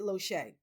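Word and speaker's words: Losier: It's spelled L O S I E R. He's Canadian, but he pronounces it Lohee.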